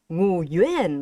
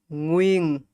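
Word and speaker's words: Nguyễn: Okay, it's not Ngu Yuan, it's not Nhu Yuan, it's Nguyen. Nguyen. See, one syllable, one sound.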